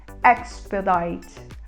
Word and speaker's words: expedite: palavra é agilizar e a gente fala com e aberto expedite expedite ela é muito usada